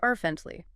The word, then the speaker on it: fervently: Three syllables. Stress on the first. Fentley.